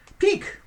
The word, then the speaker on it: pique: c enthusiastic number two peak it's a noun spelled like peak like to look at something i mean it sounds like that but it's not spelled like that uh it means either